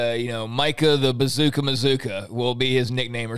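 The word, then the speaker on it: Mazzccua: to see and uh mazuka is uh is uh the proper pronunciation for anybody who reads m-a-z-z-c-c-u-a it's masculine it's mozuka mazuka like bazooka so maybe that'll become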